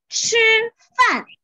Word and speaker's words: 吃: Gimana bacanya? Fun. Fun. Yes. 合起来就是 have a lunch, have a dinner, 吃饭。